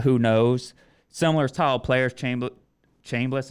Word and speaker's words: Chambliss: Similar style players, Chambliss, is that how you say it? Yeah, Trinidad Chambliss, and then Austin Simmons was the starter.